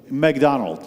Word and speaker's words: McDonald's: So this is McDonald's, just like I think they say McDonald. That's how they say it.